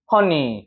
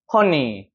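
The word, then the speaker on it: honey: 어떻게 읽어 발음해요 이거 허니 힘 들어가요 안 들어가요 허니 힘 들어가죠 얘 같은 경우도 꺾어진 꺾어진을 사운드가 되는 거기 때문에 이거 슈아 사운드 아닙니다 그러니까 지금 이걸 만든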